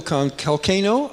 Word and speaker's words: Kalcano: Michael Kalcano, I think I'm saying it right, rhymes with volcano.